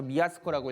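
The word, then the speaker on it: 造: 한자를 써서 아타이라고 읽고, 조라고 한자를 써서 미야스코라고 읽고, 수라고 한자를 써서 오비토라고 읽습니다.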